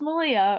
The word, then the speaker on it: Melia: right in and say, oh, it's it's Malia, or do I, you know, let them try first and be like, no, it's Malia.